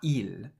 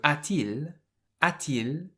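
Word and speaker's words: a-t-il: If you were to miss the t out, it would be pronounced ail. And the French don't like that stop in the middle. So the t is there to make the a and the eel linked together more nicely. So atil means has he.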